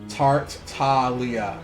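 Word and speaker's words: Tartaglia: i can completely understand tarte tahlia ah g is silent like lasagna ah okay oh that makes perfect sense now it's so much easier to say when you don't try to enunciate the g natalia love it love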